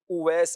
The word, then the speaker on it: اویس: یہ عرض کر دوں، اس کا درست تلفظ جو ہے وہ اویس ہے۔ اصل میں عربی لفظ ہے اوس۔ اوس کا معنی ہے بھیڑیا، اور اویس اس کی تصغیر ہے، یعنی چھوٹا بھیڑیا۔ اہل عرب میں یہ